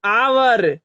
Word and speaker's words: hour: आवर, आवर पढ़ते हैं, एच की ध्वनि, न कि इसे हम हावर पढ़ेंगे। इसे हम लोग क्या पढ़ते हैं? आवर, यहाँ एच साइलेंट है।